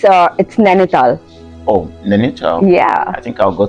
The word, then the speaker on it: Nainital: Oh, Nainital. Yeah. I think I'll go to Nainital. You pronounced it right.